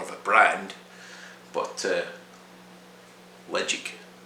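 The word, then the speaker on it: Ledaig: a brand but uh legit is how you say it not ladake led jake ledjig and legend means safe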